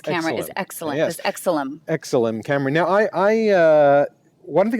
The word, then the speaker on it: Exilim: And how would you pronounce the name of that camera? Looks like it's the Exilim. Exilim. Is that kind of like excellent? Exilim. Excellent. Yeah. Exilim.